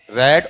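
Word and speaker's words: read: ठीक है, बताओ यहां पर स्पेलिंग तो सेम रहेगी ना, लेकिन उच्चारण में क्या आएगा, डिफरेंस आएगा। ठीक, तो आप ये बताओ, पढ़ के बताओ इसे क्या हिंदी में लिखवा दो। पहले को क्या पढ़ोगे, रीड, दूसरे को क्या पढ़ोगे,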